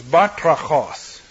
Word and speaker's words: batrachos: The Greek word is batrachos, and you can hear the frog in that if you listen carefully. It's another onomatopoeic word, like tzipur for bird, chirper. Batrachos, batrachos. You pronounce it properly and you're croaking.